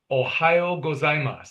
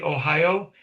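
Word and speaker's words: おはよう: In the morning, we say Ohio. That's kind of easy to remember because of the state. Ohio.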